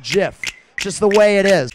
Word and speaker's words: GIF: coming listen it's a categorical fact that it's pronounced Jim just the way it is I understand if you want to call it gift that's your it's your right go right ahead